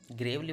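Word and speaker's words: gravely: ठीक है, ग्रेवली, ग्रेवली बोला जाता है, ये प्रोनाउंसिएशन पर ध्यान है।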